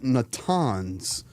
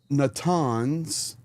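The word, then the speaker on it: Natanz: So, it was not just Foral, but it was also Natans. Um, I pronounced that wrong. No surprise. So once again, Natans and Eshahan.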